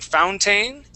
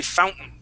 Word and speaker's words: fountain: the word Fountain so instead of saying Fountain we want to say Fountain Fountain good that's how